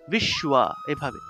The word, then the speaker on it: বিশ্ব: তাহলে সুয় উচ্চারণ, বিশ্ব এভাবে।